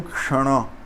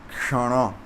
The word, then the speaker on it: Kshana: É difícil de pronunciar porque tanto o Sha quanto o Hana, eles são cerebrais, né? São consoantes cerebrais. Então, a consoante cerebral, ela é pronunciada com a língua encostando no palato, no céu da boca, e fazendo o som que você queria fazer.